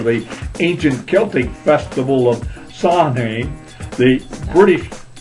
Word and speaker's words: Samhain: ancient Celtic festival of Samhain. The British, say it. Samhain. Samhain, yes. The H is silent.